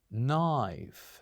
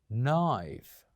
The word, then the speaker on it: knife: word which is knife knife say after me knife so it is important that you know yes we do write the letter K but we don't pronounce it we only write the